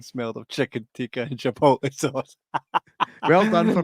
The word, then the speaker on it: chipotle: The full screen smelled of chicken tikka and chipotle sauce. Well done for pronouncing chipotle properly.